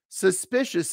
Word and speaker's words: suspicious: asking me for suspicious suspicious it's a three- syllable word stress on the second syllable so you are very